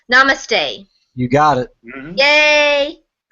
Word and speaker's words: Namaste: Phil told me how to pronounce Namaste.